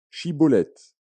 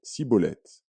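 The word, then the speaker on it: Schibboleth: non il lui disait alors et bien dit chibulette il disait sibolète car il ne pouvait pas bien prononcer sur quoi les hommes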